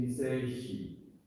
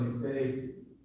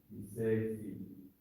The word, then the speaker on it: Niseishi: I prefer the pronunciation Niseishi, because that's how it's written. Okay? But you can also Nisei without the H. Niseishi.